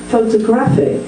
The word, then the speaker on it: photographic: Photographic, it's now moved to the third.